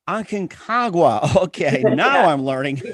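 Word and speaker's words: Aconcagua: argentina i'm having a hard time trying to pronounce the name was it akinkagwa akinkagua okay now i'm learning you got it yeah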